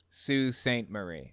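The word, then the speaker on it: Sault Ste. Marie: marie sue saint marie sue saint marie okay yeah like s-o-o is how you pronounce got it okay and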